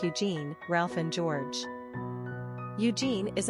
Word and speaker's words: Eugene: Quick facts on Eugene. Gender, boy. Origin, English. Number of syllables, 2.